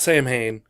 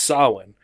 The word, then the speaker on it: Samhain: eyes version of what was originally saw with sa m h AI n so it's not same hain it's pronounced Sawin which was a Gaelic festival I would say